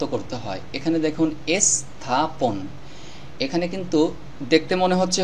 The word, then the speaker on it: স্থাপন: আরেকটি বিষয় সেটা হলো এই দন্তস্বর অক্ষরটির উচ্চারণ উচ্চারণ এস এর মত করতে হবে এস্থাপন স্থাপন লেখা আছে স্থাপন উচ্চারণ করতে হবে স্থাপন এরকম ভাবে এখানে আরো